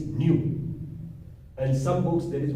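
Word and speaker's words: ν: Actually that is read as, or the pronunciation of this symbol is nu.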